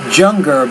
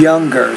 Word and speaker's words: younger: jungle to him but be careful I am NOT junger but I am younger than him younger so you're pronouncing the Y kind of like you do it in Spanish so be careful about that Harbhajan laura's praise to